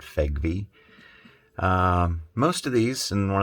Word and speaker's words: FEGVE: FEG V spinner collection that's spelled f-e-g-u-v-e I pronounce that FEG V most of these and